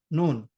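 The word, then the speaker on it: ن: pronounce noon no properly normally when you when we pronounce noon our tongue or tip of our tongue touchs in the roots of teeth here noon noon but in case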